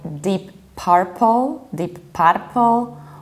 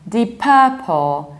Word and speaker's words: Deep Purple: So in Poland, usually people pronounce it like deep purple, or even deep purple, which is a total disaster. We pronounce it like deep purple. Deep purple, you have stressed UR, which is always a long R.